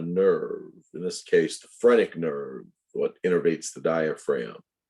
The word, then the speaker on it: phrenic: is the phrenic nerve nodosphronic spelled with a ph the phrenic nerve is an important